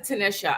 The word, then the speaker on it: Tanisha: it Tanisha or Tanisha I pronounce it Tanisha I prefer Tanisha okay then we are